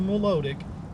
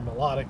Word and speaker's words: Milotic: it goes over to Milotic it will be or melodic depending how you say it it will be less